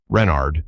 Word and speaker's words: Renard: Renard with the accent on the Ren.